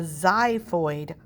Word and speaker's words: xiphoid: And then this little pointy piece on the bottom is called the xiphoid process, and that's spelled X-I-P-H-O-I-D, xiphoid process.